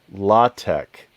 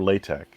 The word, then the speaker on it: LaTeX: actually usable usable and he called it la tech or let or lay tech and yeah so yeah so some people say a lot la tech some people say latex some people say latex